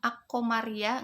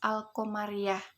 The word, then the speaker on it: al-qamariyah: Enggak bisa kan? Ak-qamariyah enggak bisa ya. Jadi al itu jelas, al-qamariyah. Pokoknya yang dibacanya jelas, alif lam bertemu dengan salah satu hurufnya.